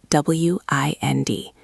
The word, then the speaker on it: wind: W I N D. In this case, we pronounce it like find or kind to wind down.